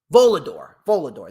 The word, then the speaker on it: Volador: How do you pronounce his name? Volador.